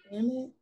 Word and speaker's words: amide: Amide? Can't speak up. How do you say it again? Amide? Yeah, Amide? Amide? the A is short.